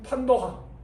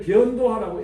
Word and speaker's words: 판도화: 이게 옛날에 옛날 많은 많은 사람들은 이걸 변도화라고 읽었어요. 변도화 변자를 분별할 때 변자. 이게 요렇게 쓰나?이 이 글자 잘 모르겠네. 변노화라고 이랬는데 윤천 선생이 민족성 윤창아 선생이 변자가 아니고 이게 판이다.